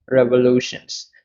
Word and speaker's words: revolution: noun so rare vaalu revolutions so revolution they are force of the boss and the stress is on the third one revolution revolutions and the